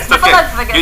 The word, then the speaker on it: Snuffleupagus: Snuffleupagus.